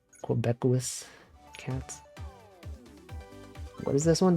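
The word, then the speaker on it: Québécois: How do you pronounce that word? Quebecois. Quebecois cats.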